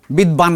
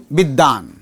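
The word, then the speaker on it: বিদ্বান: যদি হয় তাহলে যার সঙ্গে যুক্ত হবে ওটার উচ্চারণটা ডবল হবে মাঝখানে একটা এক্সাম্পল দেই মাঝখানে এই যে এই যে বিদান নয় বিদ্বাান ব আলাদা করে উচ্চারিত হয়েছে তো কি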